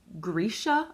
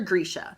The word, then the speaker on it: Grisha: Bardugo's universe revolves around something known as Grisha, I believe is how you pronounce it. At least that's how I'm going to pronounce it.